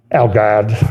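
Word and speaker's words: Al Ghad: uh a Jordan newspaper alod and I'll say it like a midwesterner would say it you know the proper way alad or alod a l g ha A D so if you speak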